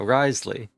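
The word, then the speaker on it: Wriothesley: out what this guy yeah Risley that's that's how they're pronouncing it no wonder Charlotte's so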